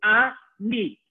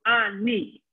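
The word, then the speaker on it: אני: Ani. Okay? Aleph with a patach, a nun with a chirik, and then the yud. Ani.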